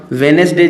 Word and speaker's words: Wednesday: वेनेसडे जी spell छा आहे असां वटि? WEDNESDAY, वेनेसडे। हाणे हिते जेको डी आहे इहो छा आहे? साइलेंट आहे, ठीकु आहे, इहो पॉइंट यादि रखिजो।